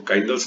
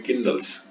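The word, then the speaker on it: kindles: What किंडल्स, किंडल्स यहाँ पे word spelling, इसको काइंडल्स नहीं पढ़ेंगे, इसको पढ़ेंगे किंडल्स, मतलब जगा देना, जला देना, सुलगा देना।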